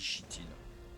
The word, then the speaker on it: chitine: Parce que le Sinomacrops il s'attrape avec de la chitine ou de la chitine. Ça dépend des gens. Comment on fait la prononciation. Moi je dis chitine. Voilà. CH, ça fait che pour moi.